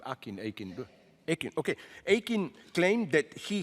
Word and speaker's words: Akin: Responding to this fury, Akin, how do you pronounce the name? Akin.